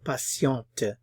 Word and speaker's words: patiente: patient, I would say patient. If I'm describing a woman as patient, I would say patiente, patiente. We have to add the E from the notation, and it also changes the pronunciation.